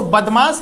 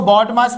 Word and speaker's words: BODMAS: बडमास लिखा है इसको बदमाश नहीं पढ़ना है। ठीक है? इसको बदमाश नहीं पढ़ना है। इतना ध्यान रखो। सबसे पहले प्रोनाउंसिएशन पे काम करो। इसको बडमास पढ़ना है और इसका सारा मतलब